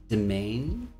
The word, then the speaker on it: Demesne: Domain, I believe that's how you pronounce it, Demesne, is your personal inner dream space.